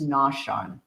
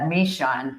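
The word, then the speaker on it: Naushon: I found out that Province Town's native name is Noshan and so I had Mishan and I think Simeon Deo misspelled it or mispronounced it.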